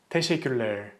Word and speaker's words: teşekkürler: The most common mistake people make with this word is they kind of eat the syllables of this word. So they pronounce it as teşekkürler, teşekkürler, teşekkürler.